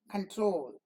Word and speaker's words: control: the first syllable con the accent does not fall on that the accent falls on the second syllable so we say control condition continue here the